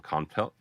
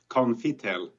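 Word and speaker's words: Konftel: Stefan is from Conftel. Welcome, sir. Perfect. Usually people call us Confitel, so you spell it just perfect. So there's no E there.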